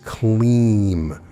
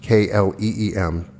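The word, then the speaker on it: Klim: The third Bija mantra of significance is Kleem, pronounced K-L-E-E-M, spelled K-L-I-M. When chanting, you drag out the middle part like we did with Shreem.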